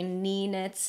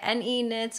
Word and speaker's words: NE Knits: knits so I guess the correct pronunciation of the name would be n e since it's an acronym but I just find it easier to say knee knits it just rolls off